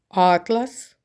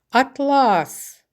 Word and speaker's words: атлас: тепло тепло мамене тепло атлас атлас це тканина Я думаю Вам вдалося